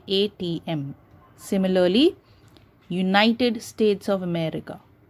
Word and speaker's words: ATM: You don't pronounce it as atom, okay? You say the words or the letters like ATM. You don't say atom, you say ATM.